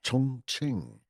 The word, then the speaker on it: Chongqing: Chongqing probably butchered that, but no, that's pretty much how you say it.